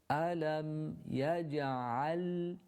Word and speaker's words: ألم يجعل: Alam yaj'al. The lam needs to be again lingered on in order to make it audible in recitation.